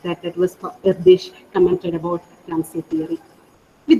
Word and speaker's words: Erdős: asked us, Erdős, Paul Erdős, even though it's named as ERDOS, it is pronounced as Erdős according to my knowledge. So Paul Erdős asked us to imagine